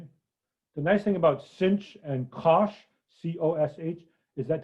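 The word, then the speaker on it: sinh: y d y so s i n h i'll pronounce is a cinch it stands for a hyperbolic sign but that too hard to say i'll just say cinch okay differentiate d u equals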